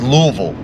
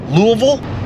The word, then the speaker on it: Louisville: north into louisville actually i don't think they pronounced the i i think it's louisville louisville i guess kentucky's really big